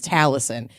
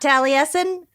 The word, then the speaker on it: Talison: wishes you sexy witches talison if you need to pronounce my name it's just Allison with a t in the front not tally Essen but I'm not going